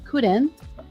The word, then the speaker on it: couldn't: remember my friend that when you say couldn't couldn't um I mean don't the L is silent okay silent L silent